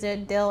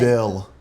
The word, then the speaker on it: Dale: You say it like D-E-L-L even though it's D-A-L-E.